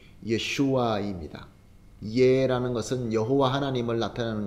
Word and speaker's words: 예슈아: 예수라는 것이 이게 헬라어로 기록되어 있어서 발음을 예수라고 하게 되는데 원래의 히브리어 말로는 예슈아입니다.